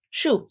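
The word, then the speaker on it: Choux: It's Shoe. Oh. Like shoe pastry.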